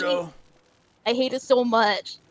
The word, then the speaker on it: Gerudo: Gerudo. I hate it so much. Don't pronounce the GE.